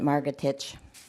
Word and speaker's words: Margatich: It's Margatich. Thank you. Yeah, exactly like it's spelled. Pronounced.